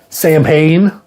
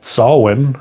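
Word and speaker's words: Samhain: Danzig, and that was Sam Hayne, which is actually pronounced Salwin, I believe. But we just say Sam Hayne, and that's what everyone says.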